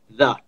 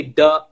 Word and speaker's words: the: When you say, some people say duh, you know, like I'm going to the mall, right? Or this is nice. That's not correct pronunciation. Okay, because that's a D sound. It's not the TH sound.